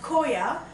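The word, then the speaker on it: khoa: The name in Hindi is pronounced koa also have a second name as mawa.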